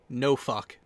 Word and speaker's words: Norfolk: There's a helpful rule to learn how to pronounce it. So yeah, no fuck. Yeah. Well, no. Let me help you with the rule there. It just helps pronounce it. So the women there, they don't drink, they don't smoke, no fuck.